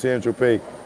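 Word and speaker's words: Saint-Tropez: When you brought that A ball of cocaine in San Tropez, pronounced San Tropez, you didn't tell Mr.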